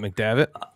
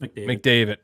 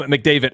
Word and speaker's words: McDavitt: it by the way is it mcdavit nope Nick David think of David yeah it's just McDavid okay um sorry McDavid I thought ah I'm